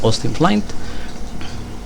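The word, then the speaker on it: Austin Flint: de austin flight se escribe austin flynn se pronuncia hosting plant que más grande en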